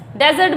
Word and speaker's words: dessert: Next है, अब ये क्या है, डेजर्ट बोलते हैं इसको, डेजर्ट, डेजर्ट, डिजर्ट नहीं बोलते इसको, इसको बोलते हैं डिजर्ट, डिजर्ट, डिजर्ट।